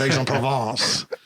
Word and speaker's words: Aix-en-Provence: Now, aside from my questionable pronunciation of Aix-en-Provence, was that all pretty accurate?